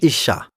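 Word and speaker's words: אשה: On l'appellera Isha, c'est-à-dire femme, parce qu'elle a été tirée de l'homme. L'homme est appelé Ish. Maintenant dites Isha.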